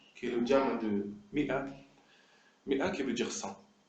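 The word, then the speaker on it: مائة: C'est-à-dire qu'on dit mi'a, on ne dit pas ma'atun par exemple. Si on le lisait comme ça, peut-être on dirait ma'atun, mais c'est pas ça du tout. C'est mi'atun. Donc il s'écrit comme ça, c'est une faute de l'écrire autrement, mais il ne se prononce pas comme tel.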